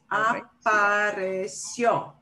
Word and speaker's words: apareció: Apareció. And I would think the accent would be on the CI.